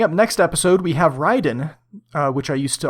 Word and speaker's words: Raiden: game podcast coming up next episode we have Ryden uh which I used to always pronounce as Raiden but I've have learned now that that is